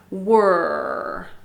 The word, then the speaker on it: were: were so repeat that sometimes people have trouble with that word wer and it has that r sound so it i sound angry and then with a wha at the beginning were were were repeat were you were sick